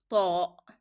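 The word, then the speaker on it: طاء: It is a hard sound. You need to make it like Ta, Ta, Ta, Ta.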